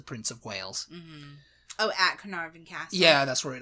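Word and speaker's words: Caernarfon: quickly for people who because it's it's not the way it sounds a e r n a r f o n canary carnarvon carnarvon number five is the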